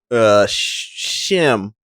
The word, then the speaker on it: Schim: There were three different ways you could pronounce the name. Like, this was the intro. It's spelled SCHIM. Ooh, like schism and shim.